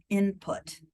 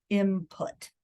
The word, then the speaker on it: input: So if you think about the word input, okay, so it's INPUT, right? The word and the correct word is input, but you might hear people or see people spell it as imput, right? With an M, an IMPUT.